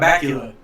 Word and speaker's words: Bakula: I was going to say Scott Bakula. What the? What? Yeah. Scott Well, Bakula. you gotta be a vampire. It rhymes. Sounds like Dracula?